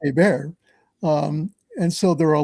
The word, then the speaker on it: Hébert: Well, Hébert is spelled Herbert, so it's Herbert, but it's pronounced Hébert.